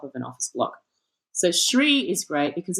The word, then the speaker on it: Shri: It's called Shri. I think it's Shri Restaurant and Lounge or something. It's spelled SHRI.